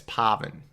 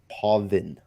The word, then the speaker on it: Pavan: Pavan you're mispronouncing it no it's Pavan yeah I've been having a hard time we got it written down on my sheet how to say it I'm probably will mispronounce it throughout and it's no disrespect it's just one of those things that you know you hear it over and over again from different players and different people that you know you kind of get that pronunciation yourself but it is definitely Pavan yeah Pavan he corrected